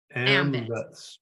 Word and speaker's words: AMVETS: AMVETS.